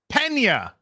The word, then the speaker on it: Pena: SJ Pena with a $2 says it's pronounced Pena. I got it right.